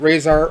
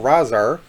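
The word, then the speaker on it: Rahzar: So depending on how you say it, Razhar or Razhar, because it's actually spelled H-A-H or R-A-H-Z-A-R, and of course Tokka is T-O-K-K-A.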